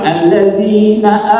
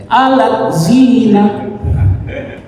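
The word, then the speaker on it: الذين: Jadi ketika dibaca, kalau kita baca ngaji macanya allazina amanu, kalau dia bacanya pasti alazina. Itu karena contoh kalau kita tidak bisa mengaji.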